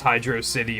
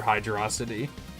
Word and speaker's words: Hydrocity: It's, an internet debate of is it pronounced Hydro City or Hydrocity?